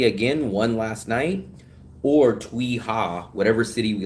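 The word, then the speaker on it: Tuy Hòa: We are going to the city called Twiha. I think that's how you pronounce it. T U wait T U Y and the second word is H O A.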